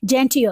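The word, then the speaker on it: genteel: पर इसको हम कैसे प्रोनाउंस करेंगे? इसको हम बोलेंगे जेंटियल। What is इट? जेंटियल, क्योंकि यहाँ पे डबल ई यूज हुआ है, और ये डिक्शनरी में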